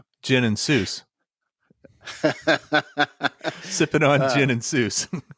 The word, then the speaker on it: Seuss: were saying it wrong he anglicized that name cuz he liked the sound he sound thought it sounded like Mother Goose ah so he he